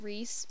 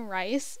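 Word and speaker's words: Rhyse: would be nina's brother and his name was pronounced rhys but i kept calling him rice because it was spelled r-h-y-s-e and that's how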